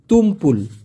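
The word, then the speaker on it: tumpul: মেজাজ খারাপ হয়ে যায় উচ্চারণটা হবে তুমপুল এ বয়সে এসে আমি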